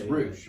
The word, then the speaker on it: Ruch: pronounce his last name it's rouge yeah it's rouge it's rouge it's r-u-c-h okay yeah and so